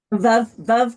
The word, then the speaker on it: Veuve: Veuve Clicquot. Veuve rhymes with love. That's how you remember it.